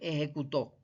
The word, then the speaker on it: ejecutó: saber escribir bien, porque no es lo mismo decir ejecuto que ejecutó. ¿Bien? Lleva un acento en la O el último y se diferencia sencillamente por eso, porque se escriben igual.